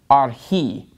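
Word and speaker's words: ἀρχῇ: So the accent is on the last syllable in this word, arhi.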